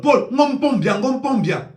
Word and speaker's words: Paul: vous dis quelque chose, il faut prononcer bien le nom de Paul. bien on dit Paul P a U Paul Paul de vous porter plainte